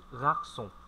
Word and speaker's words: garçon: Ở đây có một chữ C, có một dấu móc một chút, thì mọi người cứ phát âm là như chữ C bình thường.